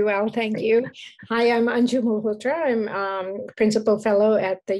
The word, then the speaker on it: Anju Malhotra: Again, apologies if I mispronounced your name. Oh, no, you did very well, thank you. Hi, I'm Anju Malhotra.